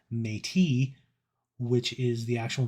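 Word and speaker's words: Métis: wrong because uh I learned to call it mettis me I believe the actual pronunciation that where the apocalypse used was mate which is the actual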